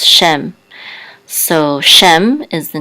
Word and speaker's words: Shem: with it said animam so feet which says Shem so Shem is the name of one of his sons it also means name but we know that this is the name of one of his sons Shem it and this is a this is a